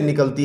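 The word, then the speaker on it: knock: खा इन नोक, इसमें फर्स्ट के हम नहीं प्रोनाउंस करते।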